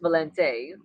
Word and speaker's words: Valente: Like with the I at the end, it's actually Valenti. With the E at the end, it's Valente. But of course, I just say Valenti. But it's actually pronounced Valente.